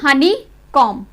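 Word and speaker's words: honeycomb: अगर M के बाद B लास्ट लेटर है तो हम उसको प्रोनाउंस B को साइलेंट बोलेंगे। टॉम, COMB, कॉम, लैम, थम, लिम और हनी कॉम, हनी कॉम। इसलिए हनी कॉम नहीं बोलेंगे, हनी कॉम, क्योंकि जो B है वो M के बाद लास्ट लेटर है, इसमें L के बाद M।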